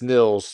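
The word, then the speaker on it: Annika Nilles: I believe it is Annika Nils. 2 L's, which means it's Nils, and then not a long I.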